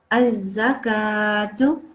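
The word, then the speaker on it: الزكاة: Az-zakatu. Oh, az-zakatu. Yeah, that's very good because you ignored this lam. It's blank.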